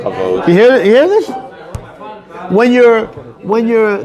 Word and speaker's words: kavod: Covered and location. No, it's covered. Actually, kavod.